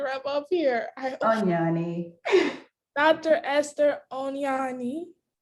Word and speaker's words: Onyoni: correct before you wrap up here dr esther onyani say it right yes i got it right